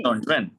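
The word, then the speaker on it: 中文: ஸோ ஸ்வேஷி ட்ரோங்வன் ஸ்வேஷி ட்ரோங்வன். ஸோ ZH வர்றதுனால இஜ் sound DCH இஜ் sound நாக்க மடக்கி ப்ரொனவுன்ஸ் பண்ணுங்க.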